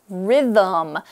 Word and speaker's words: rhythm: RH y t hm the second syllable actually has no vowel so it's a little bit tricky but but Rhythm most